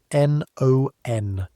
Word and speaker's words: non: This nasal. So, n o n again. Non. Better. But the o has to curl it back just slightly.